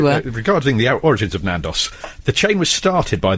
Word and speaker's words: Nando's: It said, regarding the origins of Nandos. Can we just say it is actually called Nando's? For some reason, we call it Nandos on this show because Frank mispronounces it as Nandos, got which is possessive one of the many apostrophe.